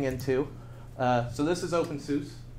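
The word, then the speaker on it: openSUSE: Uh so this is open sus or susa. I need to get my pronunci my pronunciation correct. So this is open susa.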